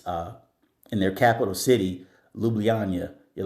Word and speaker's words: Ljubljana: Slovenia in this uh in their capital city, Ljubljana. You're like, "What?" Yes, Ljubljana. That is spelled L J U B L J A N A, but it's pronounced Lubana.